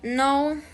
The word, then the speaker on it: know: Some letters in English are considered silent since they are not pronounced. This is the case of the combination of letter K when they are at the beginning of a word. For example, know, ni, need, knowledge.